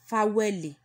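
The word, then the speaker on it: fáwẹ̀lì: Vowels is being pronounced as Faweli.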